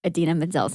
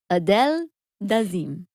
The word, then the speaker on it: Idina Menzel: John Travolta mispronouncing Idina Menzel's name. Adele Dazeem. The wickedly talented Adele Dazeem.